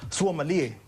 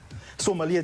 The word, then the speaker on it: Suamalie: How do you pronounce the new single? Suamalie. And tell me what that means. Suamalie just in English means sweet.